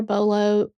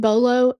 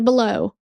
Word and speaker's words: BOLO: Anyway, my reading app lady pronounced bolo so weird. She said they contacted police there and put out a below.